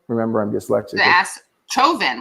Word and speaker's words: Chauvin: Chauvin, like chauvinist. Chauvin, yeah. Like chauvinist, literally like right, chauvinist, yeah.